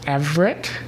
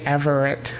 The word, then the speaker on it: Everett: But I have heard people pronounce it as Everett with 2 syllables. I tend to say Everett with 3 syllables, but I'm hearing it more and more often with 2.